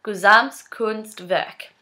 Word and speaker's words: Gesamtkunstwerk: I need to look at it to pronounce it. Gesamtkunstwerk.